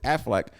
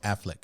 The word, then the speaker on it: Affleck: him at the end she came back to afflac uh is that how you say his name I'm think about I'm thinking about the duck a AF okay okay Affleck yeah yeah no duck yeah no duck okay